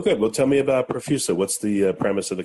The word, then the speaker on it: Profusa: I have Ben Hwang, CEO of Profusa, P-R-O-F-U-S-A. I'm not sure if I pronounced it right, but Ben, is that right?